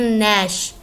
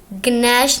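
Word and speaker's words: gnash: ये देखें, इसके पीछे लगा है जी, लेकिन हम इसको पढ़ते हैं नैश। नैश, गनैश नहीं पढ़ते इसको हम। जी इसमें साइलेंट है, इसको इसमें जी की आवाज़ नहीं लगती।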